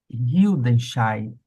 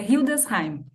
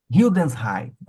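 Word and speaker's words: Hildesheim: doutoranda no Instituto de Filosofia da Universidade de Hildense. Eu vou até pedir para que a Amanda pronuncie para evitar o meu constrangimento. Como é a pronúncia correta, Amanda? Oi, bom dia. É Hildensheim. Hildensheim.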